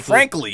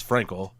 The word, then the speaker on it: Frankel: The ring Frankly, literally, yeah, frankly, it was frankly. Yeah, and then Tom Phillips said it, which I think is the right way. Is Frankel.